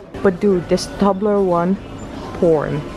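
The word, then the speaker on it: Toblerone: Tobler one so that's how you're supposed to pronounce it Tobler one not table wrong well Oh doing it wrong but do this Tobler one porn like mm-hmm what is what what what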